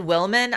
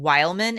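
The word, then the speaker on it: Wilmon: bit about Willis's family you said Wilman I'm saying Wildman it's w i l m o n i can't read I'm pronouncing that Wildman the Wildman family like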